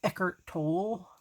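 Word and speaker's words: Eckhart Tolle: him on my walkman um on cd um eckert toll it is how you say his name um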